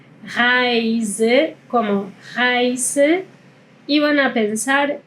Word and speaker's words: Reise: Acá la S en español se suele pronunciar con un sonido de S. Pero en alemán este sonido es más como una Z, así como un sonido de abeja. Zzz. Así es el sonido de la S.